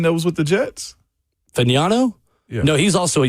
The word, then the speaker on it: Fagnano: Fagnano. Thank you. Oh, From the University of Connecticut. Thank you to Bert for helping the with that. one that was with the Jets. Fagnano?